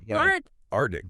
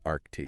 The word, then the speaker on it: Arctic: This is one where I think we just we drop a letter. Drop a letter. Art aric. But we got to get that K in there. We got to get that K sound.